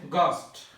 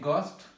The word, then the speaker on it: ghost: প্রথমে একটি শব্দ হচ্ছে গস্ট। গস্ট আমি শব্দের অর্থ সহ বলে দেব। এখানে গস্ট লিখতে এইচ লেটারটি এসেছে, কিন্তু আমরা যখন লিখতে গেলে GHOST গস্ট, বাট এখানে কিন্তু আর এইচ শব্দটা উচ্চারণ হয়নি।